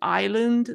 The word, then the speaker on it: island: there's so many like Island the S is not pronounced com the B is